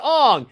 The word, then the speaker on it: Aang: Hey, Mom, how do you pronounce Aang's name? Oh, it's Ong.